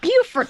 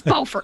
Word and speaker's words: Beaufort: I was about to correct you if you were like, Beaufort. No, it's Beaufort. But yes, yep. South Carolina does it backwards.